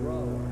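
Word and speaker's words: Brougher: James Whitcomb Brawler. Brawler, huh? It rhymes with B-R-O-W-E-R.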